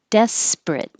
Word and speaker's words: desperate: sympathetic despite respite desperate it does look like it should be three syllables desperate but the middle one is not stressed and we drop it desperate withdraw withdraw and 15